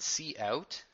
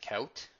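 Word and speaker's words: cout: input and output and see out don't pronounce it count hits see out that stands for console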